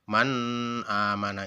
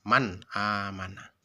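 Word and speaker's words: مَنْ آمَنَ: Bacanya seperti itu, harus jelas, tidak boleh berdengung, tidak boleh seperti ini, man amana, itu salah. Yang benar adalah dibaca secara jelas, man amana.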